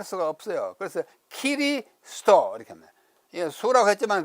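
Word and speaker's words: キリスト: 일본어에는 으라는 모음이 없기 때문에 에, 이, 오, 우밖에 없잖아요. 없기 때문에 그리스도 또는 그리스도라는 표기를 할 수가 없어요. 그래서 키리스도 이렇게 합니다. 수라고 했지만 그 사람 발음은 키리스도라고 그렇게 발음해요.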